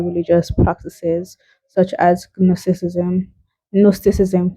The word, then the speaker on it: Gnosticism: Gnosticism, the J is silent.